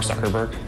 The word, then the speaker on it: Zuckerberg: they have it on tape sure it's Mark Zuckerberg founder and CEO how did the company start